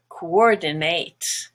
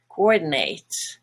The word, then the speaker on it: coordinate: Now as a verb, it's actually pronounced coordinate, coordinate. And the last part is no longer a schwa, nut, but nate. So actually that's the difference between a noun and a verb for that word.